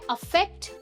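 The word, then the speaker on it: affect: अगले दो वर्ड्स हैं अफेक्ट versus इफेक्ट। अफेक्ट versus इफेक्ट, ठीक है, थोड़ा सा डिफरेंस है प्रोनाउंसिएशन में, ध्यान से सुनना।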